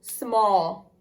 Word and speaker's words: small: s m a l even though it says that ah sound like he would think that it's a short o you're going to put that a instead for small and your second screech